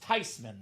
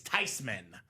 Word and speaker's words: Theismann: It's actually pronounced Theismann, Robbie. So the proper pronunciation, the German name is Theismann.